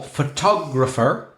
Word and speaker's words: photographer: that well for example photographer so we have four syllables photographic third syllable from their talk is the stress one photographer enjoyable and